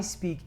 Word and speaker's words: speak: I speak English and Spanish. Recuerden, en speak no hay una E. hay algunos de ustedes que están pronunciando speak, pero speak no se escribe con E, se escribe con S.